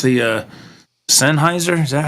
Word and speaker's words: Sennheiser: It's the Sennheiser. Is that how you say it? Sennheiser.